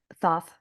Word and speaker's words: Thoth: Although Are some people say Toth, but yeah. I I think Thoth, from my understanding, is the most correct, even though it is Thoth.